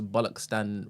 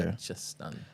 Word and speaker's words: Balochistan: And also, I think we pronounce Bollockstan wrong. Apparently, it's a CHA sound, not a K. Oh, what Balochistan? Oh, Balochistan. Is that what it Something is? like that. Yeah. Okay. Balochistan.